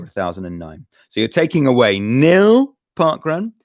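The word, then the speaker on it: Nhill: No, N-H-I-L-L. Is that how it's spelled? And how is it pronounced? Nil.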